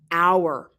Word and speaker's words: our: for we is our our it's pronounced the same as an hour in time even though it is spelled differently and finally the possessive